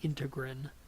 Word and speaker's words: integrin: alpha 6 beta 4 integrin also spans that same zone some people pronounce it integral I think you'll hear it both ways CD 151 antigen is